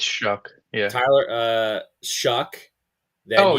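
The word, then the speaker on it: Shough: I think Shuck. it's Shuck.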